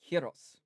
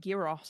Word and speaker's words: gyros: It's like the word gyros. It's not gyro. It's gyros.